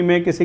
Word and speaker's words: monk: एक ही जो वर्ड होता है ना MONK, तो बच्चों इसका जो प्रोनाउंसिएशन होता है वो मंक होता है, ये याद कर लेना, मंक होता है, मॉन्क नहीं होता। अक्सर हम इसको मॉन्क बोलते हैं, तो मंक होगा।